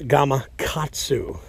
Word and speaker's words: Gamakatsu: it and a hook, a gamakatsu with a K, not a G. I don't know what a gamakatsu is, and I don't know why people say it like that, but it's gamakatsu.